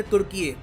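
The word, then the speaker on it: Türkiye: देखो यहाँ पे आपको समझना होगा कि ये टर्की के जो लोग खुद को बुलाते थे तुर्की, जो इसकी प्रोनाउंसिएशन है बाद में थोड़ी सी करप्ट हो गई जब ब्रिटिश लोगों ने बुलाना स्टार्ट कर दिया इस रीजन को सीधा टर्की।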